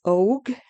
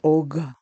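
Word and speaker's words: Och: It's spelled O C H, but the C H doesn't sound like O. It doesn't sound like oak. It sounds more like OG, you know, like a G. Um, OG.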